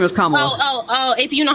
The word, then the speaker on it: Kamala: So it's Kamala.